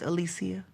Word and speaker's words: Alicia: Her name is Alisia. I'm sorry. You said her name wrong.